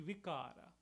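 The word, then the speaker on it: विकार: Bikar, in Sanskrit would be vikara.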